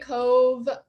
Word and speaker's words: Kōv: us uh or sorry when did you start cop essentials and just tell us a little bit